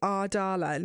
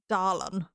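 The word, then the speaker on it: Adarlan: It is Ardalan, yeah. Darlan. No.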